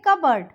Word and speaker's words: cupboard: Okay, see example, CUPBOARD. इसको हम कबर्ड नहीं बोलेंगे, इसको हम बोलेंगे कबर्ड. ये हो गया P साइलेंट.